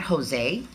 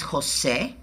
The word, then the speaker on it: José: My name is not Jose. My name is José.